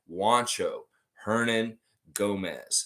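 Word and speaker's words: Juancho Hernangómez: Yes, Juancho, Hernan, Gomez. Say his name properly. You can say Bo Cruz. He doesn't mind that either. But Juancho Hernan Gomez is the man's name, and he is for real.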